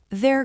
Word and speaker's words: they're: The word theirs is pronounced exactly the same as the location word there.